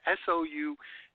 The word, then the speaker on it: Soulliere: And Soulliere is one of those names that takes you about 100 times to figure out how to say it the right way. It's Soulliere.